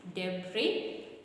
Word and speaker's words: debris: supposed to be debr debris the S the S is silent let's make sure that